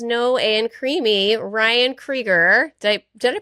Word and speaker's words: Kriger: Ryan Kger. Did I Did I pronounce that correctly?